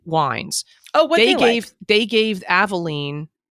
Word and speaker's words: Avaline: Oh, what they gave Aveline, I'm assuming it's Aveline, right? That's how you say it. It's Avaline.